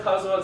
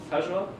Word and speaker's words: causal: You know about causal systems? Casual? How do you pronounce it? Causal. Causal? Okay.